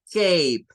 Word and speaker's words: cape: Y el otro lado tenemos la cape, cape. Y nótese que al final suena la P.